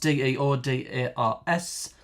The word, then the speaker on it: deodars: One of them was, oh god, Deodars. This is how it's pronounced. Deodars.